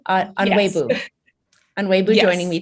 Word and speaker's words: Onuegbu: I'm your host, and I am thrilled today to have Tinsley Onuegbu, did I pronounce that correctly? Onuegbu.